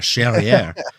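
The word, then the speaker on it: Charrière: Charriere. Rhymes with derriere.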